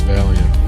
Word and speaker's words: Valiant: Intellectually I know Valiant or I know that it's Valiant, but that's not where my instinct goes. Every fiber of my being says it should be three syllables, not two.